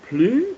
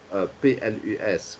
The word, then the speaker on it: plus: Pourquoi est-ce qu'on prononce le mot P-L-U-S comme plus dans la deuxième phrase, mais que dans la première phrase, on prononce ce mot plus. Pourquoi est-ce qu'il y a une différence en prononciation et aussi une différence en signification?